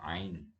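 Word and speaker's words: عين: Kalau alif, alif biasa A. Kalau ain kita pakai ada di tenggorokan, ain.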